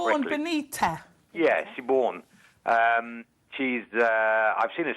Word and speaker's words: Siobhan Benita: I never pronounced her name quite correctly. Siobhan Benita.